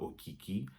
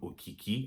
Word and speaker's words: Okiki: But look guys, I hope you guys have enjoyed me talking about Okiki. And now you know it's called Okiki and not Okiki.